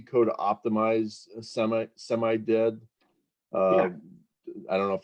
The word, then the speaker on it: SIMD: Is the C code optimized semi-dead? Yeah. I don't know if that's dead as delimited or SIMD is how you would pronounce that. SIMD, excuse me.